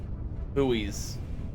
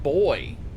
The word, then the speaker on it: buoy: good they are good buoys hmm it doesn't even like it's it's pronounced buoy it's not even pronounced boy or boys three times three yes